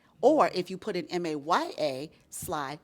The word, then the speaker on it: Maja: well first of all my name is Maya Sly Maya with the J it's not a made-up name Maya with the J is a real name j is pronounced why I in English but if you Google Maya